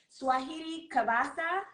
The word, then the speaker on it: Suajiry Cabassa: Swahili so first off am I saying your name correctly saying it correctly perfectly Swahili kavasa yes the CEO of wait